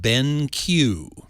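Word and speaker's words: BenQ: one of them is from a company called Ben Q which is spelled b NQ and it's called the triolo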